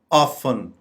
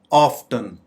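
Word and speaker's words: often: हालांकि इसको हम दोनों तरीके से प्रोनाउंस कर सकते हैं। ऑफन, ऑफन या ऑफ्टन।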